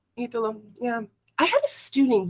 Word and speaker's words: Italo: Yes, it's Italo. Italo.